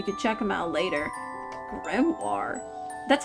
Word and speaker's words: grimoire: Grimoire. That's how you say it, right? It's It's grimoire. You guys, you can phonetically say it.